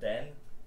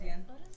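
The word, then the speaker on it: день: Gotta be like more soft. Dien. Dien. Not Den. That's like Dien. Dien. Dobry Dien. Is that better? It's still a little hard. You gotta Dobry Dien.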